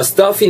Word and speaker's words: stuffy: 막힌 코를요 a stuffy nose 발음 팁 잡아가면은 stuffy 할 때 여러분 stuffy예요 그러니까는 f 발음 반드시 윗니가 아래 입술을 끌면서 이 발음이 나와야 된다고 말씀드렸죠 그래서 I have a